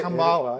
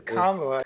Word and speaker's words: Kamala: It's not Kamala, it's Kamala.